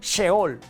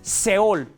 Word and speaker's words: Seol: Se dice seol. En algunas traducciones se lee como sheol, pero bueno, es seol.